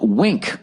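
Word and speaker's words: Winc: country's it's now called wink that's spelled w-i-n-c a new name and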